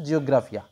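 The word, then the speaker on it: Geographica: এইচ আই সি A actually জিওগ্রাফিকা বলে কিন্তু উচ্চারণটা হয় হচ্ছে জিওগ্রাফিয়া ঠিক আছে তো এই যে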